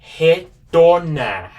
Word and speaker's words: retornar: Retornar. Retornar. This is how you spell it.